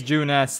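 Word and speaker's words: Junes: No, it is June S, though. Yeah, you've been saying it wrong all the time last episode.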